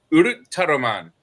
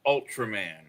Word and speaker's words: Ultraman: And the word is Urutaroman. You ever heard of that TV show? Oh no! Urutaroman. I probably watched it. Bless you. Yeah. In English, it's pronounced Ultraman.